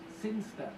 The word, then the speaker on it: Sinchester: But Elliot Thomas was still stuck down on Earth in the boring town of Sinchester. Sinster. What? It's pronounced Sinster. How do you know? My cousin's from Sinster.